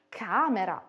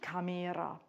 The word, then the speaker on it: camera: Zimmer, camera und nicht camera.